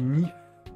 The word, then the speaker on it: NIFE: Alors ça s'écrit Nife, N-I-F-E, mais ça se prononce Nife parce qu'en